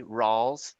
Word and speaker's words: Ralls: Yes, my name is Rawls. That last name is spelled Rawls.